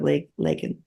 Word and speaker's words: Laken: He said Lincoln instead of LAKEN.